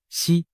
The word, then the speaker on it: 石: 锦涛，实在某些方言里读作西，实难逃